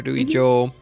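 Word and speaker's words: 城: Joe Joe yes so Castle in Japanese is pronounced Joe so when you're going around Japan a lot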